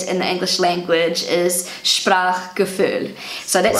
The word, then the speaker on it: Sprachgefühl: Sprachgefühl. Let me know about my pronunciation, by the way. And this is how it's pronounced on Google Translate. Sprachgefühl. Sprachgefühl.